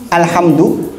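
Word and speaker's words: الحمد: Sekarang kalau bacanya keliru, alhamdu pakai hak, artinya apa? Segala kehancuran, segala kematian lillah, milik Allah. Na'udzubillah. Jauh banget nih. Jauh banget artinya. Alhamdulillahi Rabbil Alamin pakai hamzah, bukan alamin.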